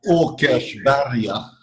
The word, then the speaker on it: Åkersberga: And so, just remind me, how do I pronounce the name of the area where the church is based? Yeah, Åkersberga.